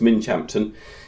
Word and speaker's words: Minchinhampton: Whitfield tump I'm on Minch Hampton common spelled Minchin Hampton but pronounced Minch Hampton in gler England it's